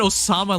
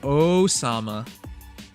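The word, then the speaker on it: 王様: i said that horribly i think i said osama like as an osama bin laden no uh it means king's game crap let me look it up that is definitely not how you say it oh oh sama yeah osama osama bin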